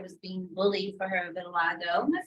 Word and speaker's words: vitiligo: This little girl right here was being bullied for her vitiligo.